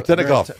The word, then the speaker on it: Veretennikov: Veretennikov.